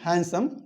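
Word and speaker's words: handsome: जैसे ही is more हैंडसम, हैंडसम नहीं, हैंडसम, D silent, more हैंडसम then you, यानी कि वो आपसे ज्यादा हैंडसम है।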